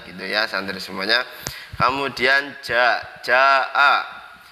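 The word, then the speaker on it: جاء: Kemudian jaa, jimnya itu dibaca panjang 5 harokat atau 2,5 alif.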